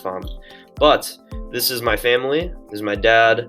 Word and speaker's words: Pham: at gustavus so the family or family it's pronounced farm but this is my family this is my